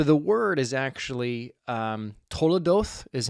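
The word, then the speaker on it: תולדות: his family so the word is actually um toodo is how you pronounce it in Hebrew it's spelled t o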